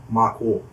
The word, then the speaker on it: Mako: It's actually a Māori word, so it should be pronounced Mako. Yeah, Mako.